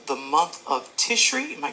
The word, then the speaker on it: Tishri: Now, you also speak about something in your book called the month of Tishri. Am I correct in pronouncing that? What is it? Tishri is here's the thing.